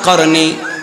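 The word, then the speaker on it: قرني: নবী বলেছেন বললেন কফ র নুন ইয়া যেটার উচ্চারণ হয় করনি এই করনি মানেটা কি এই করনির মানেটা হলো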